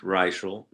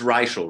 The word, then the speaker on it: Reichl: We're going to come back and talk with royalty, Ruth Reichl. It is Reichl, right? It's not Reichl.